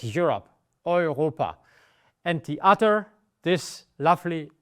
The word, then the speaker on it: Europa: The continent, England, Germany, Ukraine, Italy is Europa. It's not Europa. It's also not Europe, Europa.